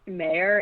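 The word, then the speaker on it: Mauer: gonna shout out alex i think it's pronounced mayor it's m-a-u-e-r who is the person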